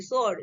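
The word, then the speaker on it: sword: यहाँ पे देखिए एस ओ, सॉरी एस डब्ल्यू ओ आर डी, सोर्ड, ठीक है। इसको डब्ल्यू है ना, तो यहाँ पे डब्ल्यू क्या है, साइलेंट है, एस के पहले आया, ठीक है।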